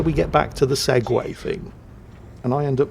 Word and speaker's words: segue: of mingles with Jingles segue the act of transitioning between two different subjects not the two wheel self-stabilized Mobility device developed and sold by the Segway Corporation of America except I was this many years old when I discovered to my horror that segue spelled like this is the two wield self stabilizing Mobility device developed and sold by the segue Corporation of the United States of